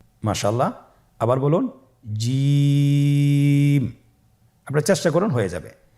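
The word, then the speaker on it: ج: দেখুন আমি কিভাবে উচ্চারণ করছি, আপনারা আমার সাথে করুন জিম। মাশাআল্লাহ, আবার বলুন জিম। আপনারা চেষ্টা করুন, হয়ে যাবে। এর মাখরাজ হলো জিহ্বার মধ্যখান, তার বরাবর উপরের তালুর সঙ্গে লাগিয়ে উচ্চারিত হয়।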